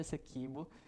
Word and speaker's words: Essequibo: A gente estava discutindo sobre a questão de Essequibo, entre Venezuela e Guiana. A primeira vez que alguém pronuncia certo, Essequibo.